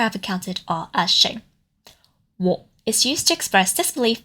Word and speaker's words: 喎: The first one is 我. The pronunciation is also very similar to 我 that was introduced in a previous video, but that one was in the 3rd tone. This one is in the 4th tone.